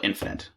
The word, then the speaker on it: infinite: finite we call it infinite another weird bit just of nomenclature is that for some reason we pronounce this word finite but this word infinite uh and we just